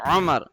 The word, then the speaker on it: Umar: But in Urdu and in normally it is yeah, people are used to saying Umar, Umar, Umar, Umar, Umar, Umar, Umar. While the correct name is Umar.